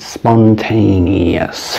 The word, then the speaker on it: spontaneous: Spontaneous. 4 syllables.